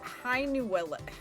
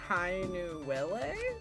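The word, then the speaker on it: Hainuwele: i find you interesting is how do you pronounce that hi nuella hi nuele i butchered that didn't i um i have i don't know if i can say that again hi new willie that's correct it is the name of a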